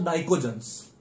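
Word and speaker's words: pnictogens: वो कहेंगे arrange the order of thermal stability of the hydrides of नाइकोजेंस। Hydrides of नाइकोजेंस, ये नाइकोजन family है। Group 15 को नाइकोजेंस कहते हैं। पी साइलेंट है, पी से स्टार्ट होता है।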